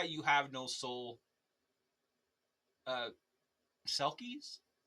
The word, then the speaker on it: Selkies: Uh, Sulkis. Pronouncing that right? Sulkis. Yes. Selkies.